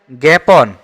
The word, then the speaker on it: জ্ঞাপন: আ এর স্বাভাবিক উচ্চারণ নেই কন্ডিতে মানে আ উচ্চারিত হচ্ছে না আকার আছে আ উচ্চারণ হচ্ছে না এটা হবে জ্ঞাপন এখানে এ উচ্চারণ হচ্ছে জ্ঞাপন আর এটা আ রাত